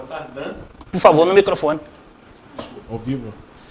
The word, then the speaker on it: Tardin: A pronúncia original é Tardan. Por favor, no microfone. Desculpa, ao vivo. A pronúncia original é Tardan, só que no Brasil Tardem.